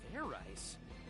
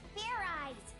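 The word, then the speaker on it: Fairize: Fair rice? Is that sort of like fried rice? That's exactly what it is, fried rice. Idiot. It's pronounced Fair Eyes. There's no ice in it.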